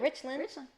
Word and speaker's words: Richland: Then am I saying it right? Yeah, Richland.